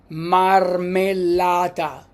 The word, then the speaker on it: marmellata: And an example would be marmellata. Okay, marmellata is jelly. Marmellata. The next one is N. N. Don't pronounce it N.